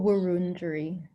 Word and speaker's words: Wurundjeri: Or Wurundjeri.